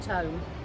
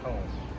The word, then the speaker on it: Tomme: with Andrew from Tom is it Tom or to to cuz I always pronounce it to and then people look at me funny like it's supposed to be Tom you're right there's no place like Tom is what we like to say awesome so